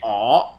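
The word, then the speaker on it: 我: You just say aw, because that's actually how most Cantonese say it. So the word is actually ngoh, but it has that guttural sound, which is actually ngo.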